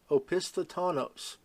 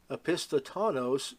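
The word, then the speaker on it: opisthotonos: with meningitis or even tetanus may present with opisthatanos I know many of you have not heard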